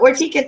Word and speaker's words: Vartika: And her name is spelled Vartika, and we pronounce it Vartika, yes?